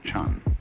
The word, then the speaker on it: Zen: in Chinese Japanese pronunciation like Zen is the Japanese pronunciation of the Chinese Chun and uh the story is